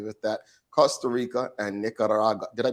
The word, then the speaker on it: Nicaragua: Costa Rica and Nicaragua. Did I pronounce it right? Nicaragua, but it's good. I can't roll the tongue, man.